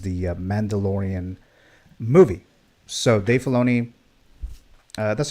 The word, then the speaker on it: Filoni: So Dave Filoni, that's how you pronounce the last name, right? Filoni?